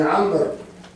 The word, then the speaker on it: عمرو: بكر ابن محمد ابن عمرو، عمرو تكتب بالواو، قالوا داوود تكتب بواو واحدة، وعمر تكتب بواو. تو عمر أنا مرة نضع واو ولا تنطق، ترسم ولا تنطق، وداوود بواو واحدة، قالوا سرق عمرو وداوود.